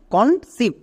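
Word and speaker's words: conceive: next এবার দেখো ই আই ই I vowel blending word এর জন্য হস্তিকার বসিয়ে দাও ভি এর জন্য ভো এবং শেষেরই সাইলেন্ট তাহলে এর উচ্চারণ কি হলো কনসিভ কনসিভ সো টিপস যদি মনে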